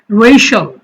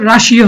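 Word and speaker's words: Russia: Racial, CIL শল, তাহলে racial মানে হচ্ছে জাতিগত, যে রেশাল আমরা বলি যে জাতিগত দাঙ্গা হাঙ্গামা। রাশা, এটা হচ্ছে রাশিয়া হবে না, উচ্চারণটা হবে রাশা।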